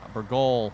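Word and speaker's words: Bourgault: I know both the Kloss DLC and now, of course, the Burgol. Well, someone said it's pronounced without the T on the end, so Burgol?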